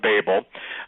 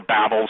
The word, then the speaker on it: Babel: Chris Putnam, Steve Quayle, Tom Horn are right back at the Tower of Babel, or Babel. Some people pronounce it one way, some pronounce it the other.